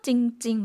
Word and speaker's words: จริงๆ: 태국어를 혹시 보고 계신 분이 있다 그러면 중간에 러르어가 묵음이 되었다는 것 아실 것 같아요. 두 번 읽었죠? 찡찡 마이야목을 넣어서 두 번 읽게 되었는데요.